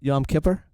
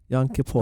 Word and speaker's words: Yom Kippur: just had it right Yom Kipper Yom Kippur oh you said it right second time yeah Yom Kippur my